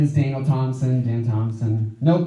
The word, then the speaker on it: Thomson: It's THOMSON. It's a name you savor. Yeah, right there in the middle. Thomson, no P. Son of Thomas is the etymology. And it's the right way to spell it, too.